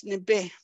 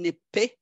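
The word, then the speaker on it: nibi: to as water as nibe we spell it with a B uh that's n i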